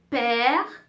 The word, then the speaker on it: père: Accent grave, on ouvre un peu la bouche, on ouvre, hein, grave, on ouvre la bouche. Exemple, père, mère, frère.